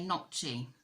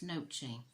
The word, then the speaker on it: gnocchi: I keep wanting to say gnocchi, but I think she said it's nochi. Gnocchi, gnocchi, whatever, who cares.